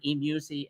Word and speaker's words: eMusic: She showed it to me on her And phone, and it's so eMusic.